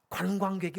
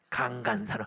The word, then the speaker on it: 관광: 이 경상도에 오래 산 사람들은 관자 발음이 어려워. 그래서 관광을 못하고 뭐라고 그래요? 강간산업. 그러면 애들이 다 자빠지게 웃는 거야. 그래서 상호야, 강간이 아니고 관광. 근데 그게 안 고쳐져.